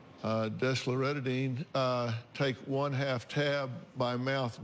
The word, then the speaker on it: desloratadine: nightly for your 12-year-old, and how do you pronounce this one? Desloratadine. Desloratadine, take 1/2 tab by mouth daily.